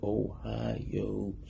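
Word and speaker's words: おはよう: say hi in Japanese Ohio like the state Ohio this means good morning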